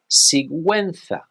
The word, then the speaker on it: Sigüenza: Well, in Spain, the pronunciation is Sigüenza.